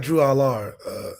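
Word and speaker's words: Drew Allar: But I do like Drew Aller. That's how you say it, Drew Aller?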